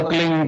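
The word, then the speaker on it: क्लीं: की मात्रा और बिंदी, उसका उच्चारण होगा क्लीन गा की ध्वनि निकलेगी पीछे।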